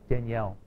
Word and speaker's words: Daniel: the spelling, of course, the only difference in speaking is the difference in accenting syllables. Daniel versus Danielle. So, we go to the feminine simply by changing the way we accent syllables.